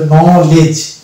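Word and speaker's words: knowledge: দেবো মানে কে বাদ করে দেবো দিয়ে বাদবাকি উচ্চারণ করবো তো এটা হলো নলেজ এটা হচ্ছে নলেজ এই যে শব্দগুলো পাচ্ছি কেন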